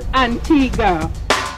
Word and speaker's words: Antigua: whole Columbus thing and in Spanish Antigua means ancient but we were colonized by the British in 1632 so it's pronounced Antigua meet pal a bow